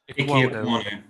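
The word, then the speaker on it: Ekwonu: So I'm going, how you pronounce his name again? Equal what? How you say it? Ikwonu.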